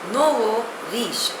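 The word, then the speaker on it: nouveau riche: a long epic poem the next word is नोव रीश spelling is एन ओ यू वई ए यू आर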